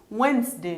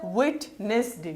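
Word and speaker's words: Wednesday: وین که همداسې چې مونږ لیکلی همداسې ووایو نو دا باید ویټنسډې وي. نو دلته ډي سایلنټ ده.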